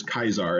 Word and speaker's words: Caesar: because they always recall latin scholars will call julius caesar julius kaiser and i i'm not